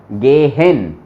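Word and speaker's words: gehen: और हा बीच में आए तो उसका साउंड ऑलमोस्ट गायब हो जाता है ना, साइलेंट हो जाता है वो, वोनिन, यहां पे बोला वोनिन। लेकिन इसके लेफ्ट में और राइट में दोनों तरफ वोकाल आ जाए तब उसका साउंड पूरा बोला जाएगा, गेहेन, जेहेन, ऐसे।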